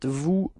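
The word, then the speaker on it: vous: it's okay and keep in mind that is pronounced like okay new repeat new yeah that's it second person it's Vu and then we get Vu repeat Vu okay so actually for new and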